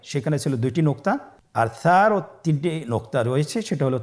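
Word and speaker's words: ثاء: আবার বলুন সা হরফটি বারিক মানে পাতলা করে উচ্চারণ করতে হবে। তাহলে আমরা এখন সায়ের মাখরাজ লক্ষ্য করি। সায়ের মাখরাজ কোন জায়গা থেকে? স্ক্রিনে দেখা যাচ্ছে। সা হরফটির মাখরাজ হলো উচ্চারণ স্থান জিহ্বার আগা সামনের উপরের 2 দাঁতের আগার সঙ্গে লাগিয়ে উচ্চারিত হয়।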